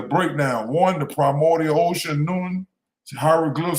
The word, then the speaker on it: Nun: Egyptologists believe it was pronounced something like Noon or Noon.